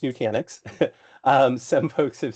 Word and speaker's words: Nutanix: of f you know it's so first it's pronounced Nanix um some folks have said you know Nutnix which sounds like a you know a breakfast